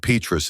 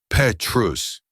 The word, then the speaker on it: Petrus: The 2005 Petus is a remarkable vintage. She pronounced it correctly. Petrus. The silent, the vowels pure.